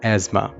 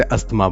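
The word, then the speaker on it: asthma: दोस्तों, इस वर्ड को हम इंग्लिश में कहते हैं एज़मा, और ज़्यादातर लोग इसे अस्थमा बोलते हैं। इस वर्ड को हम क्या बोलेंगे? एज़मा, और हिंदी में दमा। इंग्लिश में एज़मा और हिंदी में इस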